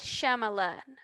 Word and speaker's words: Shyamalan: Night Shyamalan.